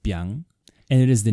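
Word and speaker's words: 𰻞: of you have seen this character it is pronounced Byung and it is the name of a type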